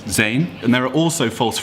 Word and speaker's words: zijn: In German, it's sein, and in Dutch, it kind of, you'd have no idea how to pronounce that unless you knew how to speak Dutch, but it's zijn.